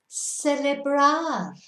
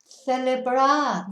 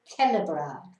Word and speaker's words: celebrar: Now remember, with a CE pronunciation, You can either do it as a th or a s, but not a k. So you can't say celebrar, but you could say celebrar or celebrar. And that, of course, is to celebrate.